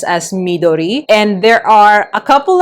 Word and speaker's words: Midori: I think for a lot of people they pronounce it as Midori but it is pronounced as Midori.